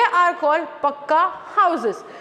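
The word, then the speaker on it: pucca: यहाँ पे पुच्चा लिखा है बट हम उसको प्रोनाउंसिएशन करेंगे पक्का हाउस।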